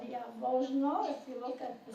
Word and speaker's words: Jaworzno: It was called Jaworzno. If you look at the center of the map, it's spelled with a J-A-W.